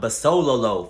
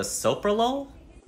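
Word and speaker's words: bisoprolol: and are you on any medications I'm on basololo for my blood pressure do you mean the soprolol is that how you say that yep anything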